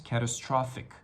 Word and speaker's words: catastrophic: I assume it's the last portion that was hard to pronounce, catastrophic. The P-H-I-C, which we read as thick, catastrophic.